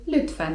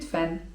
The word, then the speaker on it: lütfen: özür dilerim) 'Proszę' to po turecku: lütfen (czyt. lütfen) lütfen (czyt.